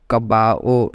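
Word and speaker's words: caballo: okay gato horse called kabao in Spanish okay because in the last point I think I just told you that Double L is silent whenever it appears in the word it can be written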